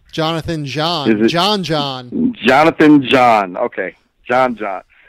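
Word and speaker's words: Jeanne: Jonathan, how do you pronounce Jonathan's last name? Jonathan John.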